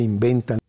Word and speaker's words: inventan: lo que inventan, Lo primero que notamos es que el profesor Celorio no pronuncia v, sino la bilabial b. El español general no tiene v, solo b. Esta b es bilabial y causa que la n anterior también sea bilabial.